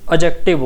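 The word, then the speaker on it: adjective: लेकिन इसका सही प्रोनाउंसिएशन जो होता है एडजेक्टिव होता है। जिसमें डी को हम साइलेंट रखते हैं। ए और जे के बीच में जब डी आता है तो वो साइलेंट हो जाता है।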